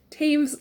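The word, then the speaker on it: Toews: because i was like taves like paves i think is the correct pronunciation i really really really really loved a complicated kindness by miriam taves so so very much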